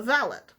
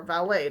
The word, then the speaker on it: valet: So his friend suggests to him to get what's called a valet, or valet, depending on your pronunciation.